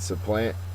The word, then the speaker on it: supplant: is next okay and supplant is a verb uh the first sorry the second syllable is accented and it's to take